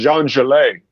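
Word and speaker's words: Zhang Zhilei: I actually was real familiar with it's actually, his name is Jean Gelet, is how you pronounce his name.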